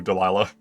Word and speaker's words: Dalila: you there points to dalila I keep saying dala I don't know why I'm so sorry my